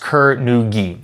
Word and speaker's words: Kur-Nu-Gi: It does have hyphens in it, so I do believe it is pronounced Kur-Nu-Gi.